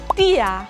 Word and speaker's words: dir: Y la R al final como una A. Mia oder dir.